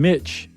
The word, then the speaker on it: Mich: And then we got a thank you note from Mitch, M-I-C-H, but it rhymes with Rich.